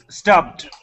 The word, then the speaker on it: stopped: and you're going to pronounce it with using the T at the end, okay? So, stop. Stopped.